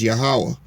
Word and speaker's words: Yahweh: name is not god his real name is yahweh can you spell that y a h a h w a